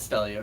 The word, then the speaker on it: Stelio: It is Stelio Contos.